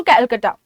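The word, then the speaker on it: Calcutta: हैड टू गो टू कैलकाटा, Kolkata भी आप बोल सकते हैं, कैलकाटा भी आप बोल सकते हैं, दोनों ही प्रोनाउंसिएशन सही है।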